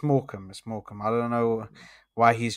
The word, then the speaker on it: Morecambe: It's pronounced Morecambe. But anyway. Now, you said Morecambe, which is very different. The way what he wrote is pronounced completely different, though. Yeah, it's Morecambe.